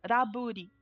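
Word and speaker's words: ラブリー: é a pronúncia japonesa de Lovely, é Raburi.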